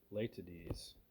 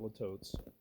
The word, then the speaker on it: Litotes: The correct term is Latides, okay, and it's spelled Litotes, not latotes, Latides, okay, and that means understatement.